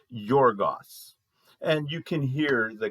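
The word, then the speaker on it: γεωργός: In the Greek, it's pronounced something like this. I'm no guarantees here, but Yorgos.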